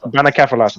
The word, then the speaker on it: Bannakaffalatta: Bannakaffalatta. Bannakaffalatta, that was it.